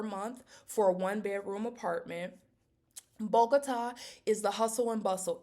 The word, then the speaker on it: Bogotá: We should not pronounce it bota. That might be what it looks like, but it's pronounced bogota or bogota with an accent mark over the a at the end.